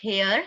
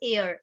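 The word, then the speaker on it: heir: So this is नॉट हेयर, this is एयर, एच यहाँ पर silent है, इसलिए एन एयर, एन एमएलए।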